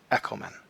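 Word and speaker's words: ἔχομεν: going to do so for example in echomen we have this is short so we can based on you know rule 1.1 we can say ah it's not long therefore it can go back to the third syllable that's what it's going to do echomen 1 2 3 but in lamban ah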